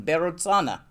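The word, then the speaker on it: Vairotsana: And this itself is Berotsana, I'm pronouncing it Tibetan, Berotsana.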